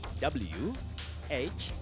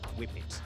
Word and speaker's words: whippet: The right spelling for that word is WHIPPET. Whippet or whip it. It's a word with 2 acceptable pronunciations.